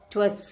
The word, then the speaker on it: 'Twas: 'Twas certain he could write and cipher too. Please look at the last line. It was. I is missing, so you'll pronounce it as twas.